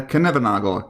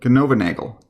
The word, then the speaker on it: Knoevenagel: So, how to pronounce that? It's called the Knoevenagel condensation, or the Knoevenagel condensation.